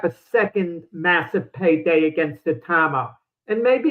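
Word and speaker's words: Itauma: I mean, I think that it's going to be hairy for Usyk because if Atama has a couple more fights, or Itama, I think is how you say it.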